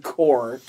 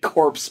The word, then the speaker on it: Corps: You don't have to pronounce the P or the S now. I know. Yeah, I know. I make that stupid mistake sometimes. Even when going with the Green Lantern core, I've called it corpse before.